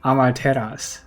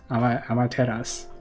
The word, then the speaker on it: Amaterasu: Okay, and before anybody flames me for pronouncing the debuff wrong, it is Amaterasu. Amaterasu. It is Amaterasu, just to make sure that I fix it before we put this episode out.